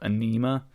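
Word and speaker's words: Ænima: So if anybody hasn't heard of them, I think a good song to get you into them is called Anima. So it's spelled Aenima.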